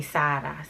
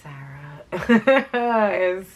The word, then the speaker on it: Sarah: Oh, hey, she kept calling me Sada. I hate when Spanish people say my name like Sada. It's Sarah.